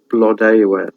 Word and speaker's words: Blodeuwedd: Blodeuwedd, it means flower face, but she finds her own lover in Gronw Pebor.